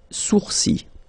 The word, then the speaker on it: sourcils: Okay, so it's quite strange because you get this LS at the end, but then, well, you don't pronounce them. Les sourcils.